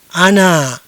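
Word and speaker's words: أنا: Ya, bagaimana cara membacanya? Ana.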